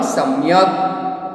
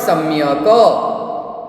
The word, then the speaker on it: सम्यक्: सम्यक, उसको प्रोनाउंस क्या होगा? सम्यक। इट इज नॉट सम्यक। सम्यक बोलेंगे तो क के साथ अ का प्रोनाउंसिएशन होगा, पर यहाँ पे सम्यक।